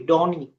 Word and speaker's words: Dawnene: Uh, is it the right pronunciation, by the way? Donnie.